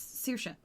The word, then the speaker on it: Saoirse: get used to it it's Saoirse yeah just do it yeah come on like learned that this spelling is pronounced this way and it's a very traditional